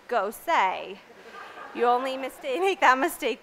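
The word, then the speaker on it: Gose: their beer vocabulary because one order of a ghost will quickly have Wyatt informing you that is in fact pronounced go say you only mistake that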